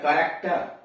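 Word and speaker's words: character: सी एच ए आर ए सी टी ई आर, करेक्टर, सी एच ए आर ए सी टी ई आर, करेक्टर।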